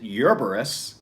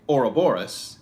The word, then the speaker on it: Ouroboros: As a point of clarification, some folks pronounce it Ouroboros, and other folks say Ouroboros.